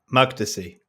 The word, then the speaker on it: Makdisi: How do I pronounce this? Because I read it all the time. Makdisi.